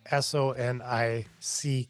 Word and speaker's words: Sonick: last name is spelled s o n i c k Sonic like Sonic the Hedgehog or the restaurant chain or like a sonic boom with a K on the end a CK on the end go to sonic.